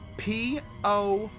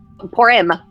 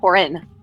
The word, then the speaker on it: Porim: Porim, P-O-R-I-M. That's M for mother. Porim, not Porin. Porim. That's how it's pronounced.